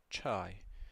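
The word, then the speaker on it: چاي: Ch as in church. Chai.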